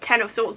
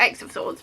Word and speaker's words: X of Swords: it ten of swords it's actually pronounced ten of swords not x of swords but anyway this is